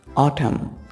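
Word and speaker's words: autumn: इसमें एन जो है वो साइलेंट है, यानी उसको हम उसका साउंड नहीं निकालेंगे। ऑटम।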